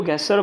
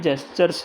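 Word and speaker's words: gesture: क्या बोलते हैं ये, पहले मैं इसको गेस्चर बोलता था पर किसी ने मुझे करेक्ट किया और बताया ये गेस्चर नहीं जेस्चर्स हैं।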